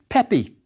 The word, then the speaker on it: Pepi: Pronounced? Yes, Pepi.